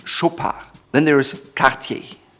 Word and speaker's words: Chopard: Chopard is without the D at the end. It's not Chopard or Chopard, it's Chopard.